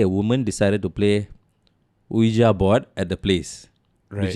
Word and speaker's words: Ouija: It's pronounced Ouija board, by the way. Oh, it's Ouija. Ouija, apparently, right?